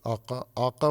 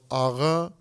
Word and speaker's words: آقا: یہ آقا، آقا فارسوں کا تلفظ ہے اور آغا یہ ترکوں کا تلفظ ہے.